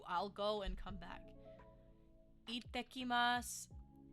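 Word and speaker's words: いってきます: Ittekimasu. Ittekimasu. Ittekimasu. See how I'm pronouncing that break when we have that small tsu, meaning that we have a double consonant. Remember that we pronounce that break.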